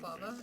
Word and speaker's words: balaclava: How do you say that word? No, you said it right, I did? balaclava. Oh, okay. Cool. I've always seen it, I've never said it out loud, so. I think you're thinking baklava, which Probably. is different. Oh.